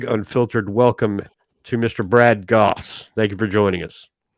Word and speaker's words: Gosse: Brad Gosse, Gross, Gosse, Gooey, Josie. How do you say that in French? France. It rhymes with sauce.